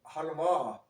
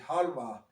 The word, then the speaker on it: halva: Arabic in Arab countries called halava. I mean, you might produ pronounce it halva, but you might might also pronounce it halva.